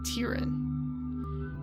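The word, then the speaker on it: Tyrann: listen my name is Tyron Tyron right I think that's how you say his name or tyan it's tyan and if you ever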